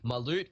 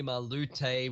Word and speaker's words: Malut: Also going through there, now that they've picked up the Thresh on the side of Karami Senpai, Malut, formerly Malute, we've been apparently pronouncing it wrong from this time.